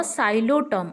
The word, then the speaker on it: Psilotum: Spelling मन रखिब जे PSILOTUM किंतु pronunciation हम साइलोटम अर्थात पीटा साइलेंट रहीकि प्रोनाउंसिएशन हम ओके।